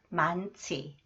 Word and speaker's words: 많지: This one 치앤 니은 히 change it sound 만치 만치 공부할 시간이 많지 않다 공부할 시간이 많지